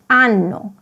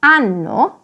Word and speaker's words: hanno: And finally, hanno, they have, without the H, corresponds to anno, the year.